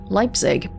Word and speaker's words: Leipzig: oh the ssv leipzig i'm told it's pronounced leipzig pretty sure my social studies teacher said it was leapsig before i guess they were